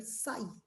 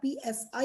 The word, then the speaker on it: psi: This symbol used for a wave function is a Greek letter called psi. This is the psi, it's called psi, p is silent.